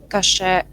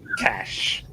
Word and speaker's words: cache: So the next question is, can you specify any recommendation for Kasha management in React? Maybe I pronounce it not correctly. Cache or Kasha? Cache. Cache.